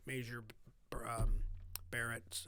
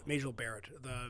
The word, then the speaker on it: Majel Barrett: And I was like Major Barrett, or I always pronounce her name wrong. Majel Barrett, the actress who's Gene Roddenberry's wife.